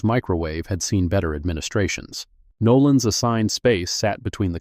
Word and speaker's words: Nolan: Welcome to the team, Nol. Nolan. Right, Nolan. She didn't apologize for the error. Let's get you set up. The onboarding process took 2 hours. During those two hours, Margot mispronounced his name twice more. Noland, then Noel again.